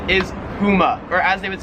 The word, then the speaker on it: Puma: No, it's Puma.